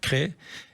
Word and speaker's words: Crest: Mais crest, non, il faut dire cré. Voilà, donc vous le savez, c'est situé alors alors on est plus au nord au au c'est au bord de la drô cré et et c'est à l'est de Valence.